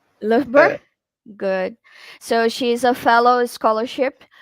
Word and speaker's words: Loughborough: Acho que é assim que se pronuncia. Loughborough?